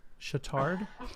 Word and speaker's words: Chautard: Chautard.